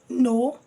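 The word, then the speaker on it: know: No, as well as same K is a silent letter.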